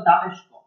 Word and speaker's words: দামেস্ক: ডেমাসকাস, ডেমাসকাস বইয়ের প্রত্যুপকার গল্পের ডেমাসকাস দিয়ে করা হয়েছে, তবে এর যে প্রকৃত উচ্চারণ সেটা হলো দামেস্ক, অর্থাৎ ডেমাসকাস বলতে বোঝা হয় দামেস্ককে।